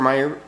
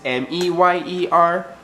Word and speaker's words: Mayer: My baloney has a first name is M-E-Y-E-R. Not with an A, that's Mayer. And I've even heard people say that on the internet.